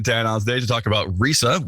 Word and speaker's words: ReSA: today to talk about Risa which I've just edited out a mispronunciation of that which is Rea and it's the research